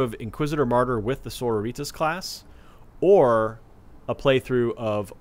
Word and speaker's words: Sororitas: some Flack on pronunciation sororitas I'm probably putting a little bit too much of a Spanish tank on the name yeah yeah a a battle there was a battle battle senorita sororitos like a sorority yeah like sorority but with an ass at the end as I look